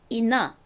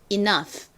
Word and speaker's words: enough: 그래서 합쳐보면 enough 라는 발음이 되죠. 그리고 GH는 F 소리, F 소리가 난다 라고 말씀드렸었죠. 전체를 읽어보면 enough, enough가 됩니다.